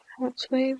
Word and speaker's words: hrtz.wav: Yeah, hrtz.wav, that's how it's pronounced.